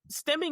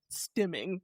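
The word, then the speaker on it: stimming: you're just curious stemming is spelled st t i m m i n g like stem like in stimulating stemming.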